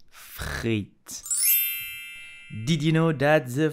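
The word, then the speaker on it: frites: french fries in French you will say Fritz Fritz you have to pronounce the r like the French do so freit did you know that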